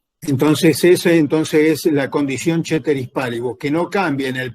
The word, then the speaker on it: ceteris paribus: La condición ceteris paribus, que ustedes la van a tener escrita como ceteris paribus, pero se pronuncia ceteris paribus.